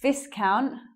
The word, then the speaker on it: viscount: What was wrong with Viscount? We actually use a different vowel there. It's I.